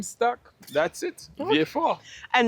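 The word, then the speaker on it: Vieux Fort: V4. And now that I know that Shane, personally, I could never go back to saying viewfort. I'm going to stick with V4.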